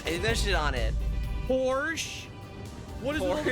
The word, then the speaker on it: Porsche: Porsche?